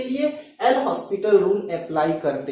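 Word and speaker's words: L'Hôpital: ऐसे कंडीशन में हम इस लिमिट्स की वैल्यू फाइंड करने के लिए एल हॉस्पिटल रूल अप्लाई करते हैं, राइट। इसको कुछ लोग एल हॉपिटल रूल भी बोलते हैं, एल हॉपिटल रूल या लैक्टल रूल भी कुछ लोग बोलते हैं, ठीक है।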